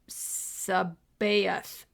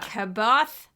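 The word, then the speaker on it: C'baoth: Jorus Sabayth. Sabayth. Jorus. Sabayth. Yeah. Some people thought it was a hard C like Yeah. Kabath.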